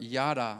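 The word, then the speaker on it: yadah: Today, I just want to go over the word yada, all right? This is how you spell it.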